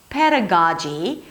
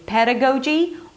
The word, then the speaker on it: pedagogy: I have heard people saying pedagogy with the as in father, so both are okay. You can either say pedagogy or pedagogy.